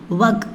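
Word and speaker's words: वह: ஸோ இதுக்கு நம்ம எக் அப்படின்னு ப்ரொனவுன்ஸ் பண்ணணும். ஓகே, நெக்ஸ்ட் ஒன் பார்த்தீங்கன்னா அது. அது அப்படின்னா வக் அப்படின்னு சொல்லணும்.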